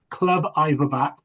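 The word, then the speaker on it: Clwb Ifor Bach: Is it Club for Back? I can understand why it's difficult for someone to spell that. It's Club Iverback, so back, but basically it means Welsh club.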